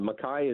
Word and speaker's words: MacKay: be peter makai yeah the makai is the proper pronunciation in the highlands somehow it got uh